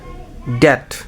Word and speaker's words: debt: Silent B, ড্যাট, এই ড্যাট শব্দটা be silent পাবো আমরা।